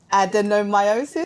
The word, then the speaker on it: adenomyosis: And not only that, you also have adenomyosis.